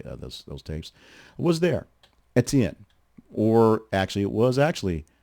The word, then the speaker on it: Etienne: of an explanation of how we got to Etienne from Etienne in the first place.